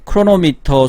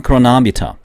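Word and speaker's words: chronometer: 나침반이나 크로노미터 수평을 유지하는 장치. 배가 흔들리니까 나침반과 크로노미터가 뭔지 찾아봤는데요. 크로나미터입니다. 크로나미터. 영어 발음으로는 크로나미터입니다. 이게 영어 발음 기호입니다. 우리나라 말로는 크로노미터.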